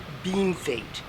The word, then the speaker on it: Bienfait: out to me that even though piano fate means well done and french and was supposedly bestowed by french railway workers the accepted pronunciation is bean fate if you don't mind